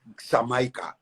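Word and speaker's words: Xaymaca: wood and water and they pronounced it something like samaika x-a-y-m-a-k-a-s-e-a that x was changed to j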